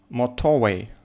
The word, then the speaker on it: motorway: Motorway, motorway, motorway. So, motorway, motorway, motorway. So, the first syllable is stressed.